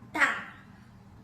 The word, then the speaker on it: 大: 大。